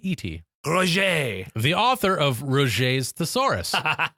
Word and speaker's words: Roget: hmm I should have looked up how to pronounce that rogent Rogen is ro JIT ro ro G et Roche the author of Roget's thesaurus who was born